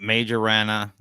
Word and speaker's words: Majorana: a couple things up I call it major Rana because my name is Major so that's the way it goes than it's I think you can pronounce it both ways so um yeah and